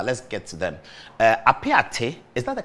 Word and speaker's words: Apiate: gathered so far let's get to them uh apiace is that the correct pronunciation honorable mr yes apiate is a village along the takwa bogoso ayam